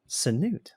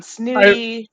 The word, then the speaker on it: Sanute: I've gotten Snooty, Sanute, Sante, all sorts.